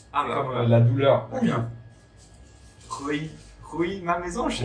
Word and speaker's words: Houilles: Ouille. Ouais, voilà. Oui. Ouille. Carrière-sur-Seine. Et ouille, ça fait aussi aïe. Comme la douleur. Ouille.